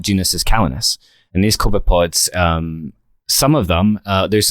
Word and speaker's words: copepods: have you heard of coconuts yeah it is pronounced copepods no that's cool these are there's a lot